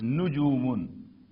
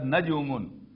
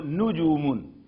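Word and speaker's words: نجوم: And plural is nujumun. We have to keep in mind that this should not be pronounced as najumun, because that will have a different shape. So nujumun means stars or planets.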